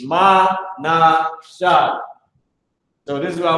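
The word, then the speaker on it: מנשה: And this is how you say it in Hebrew. It's Ma-na-shah.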